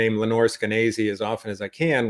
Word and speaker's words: Skenazy: Lenore Skenazy. Okay. And as she says, rhymes with crazy.